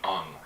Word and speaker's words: Aang: The proper Japanese pronunciation of Aang would be Ung, and that was him being a dick.